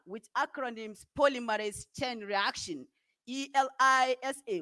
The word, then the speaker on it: ELISA: acronyms polymerase chain reaction e-l-i-s-a which pronounced elisa and acronyms enzyme link